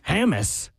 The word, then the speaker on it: Hammes: Hammes.